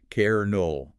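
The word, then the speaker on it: colonel: English speakers, we locked in the old French pronunciation of kernol and just stubbornly kept saying it.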